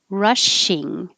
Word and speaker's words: rushing: know i don't know rushing the first is ra and the e is ing so the tongue goes very high for ing rushing and that's different than russian where the second part is